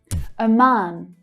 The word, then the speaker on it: Oman: Oman. Oman. The second syllable has the stronger stress, and it's the longer vowel sound. Ah, like in father.